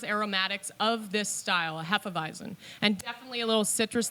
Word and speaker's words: Hefeweizen: Pronounced Hefeweizen, by the way. A lot of people say Hefeweizer. No we don't know why. Hefeweiser, no Heffenweizen. There's no R at the end.